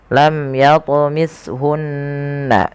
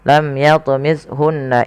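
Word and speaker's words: لم يطمثهن: Huruf tsa ya. Tidak boleh diganti dengan huruf sin. Maka dia lam yatmishunna. Ya. Kemudian pelafal hunna ada nun berharakat tasdid dan diwarnai dengan warna hijau yang cara bacanya adalah kita menahan suara bunyi gunahnya. Lam yatmithunna tidak langsung lam yatmunna insu. Tapi bukan hanya sekedar tasdid tapi dia wajib ditahan suaranya.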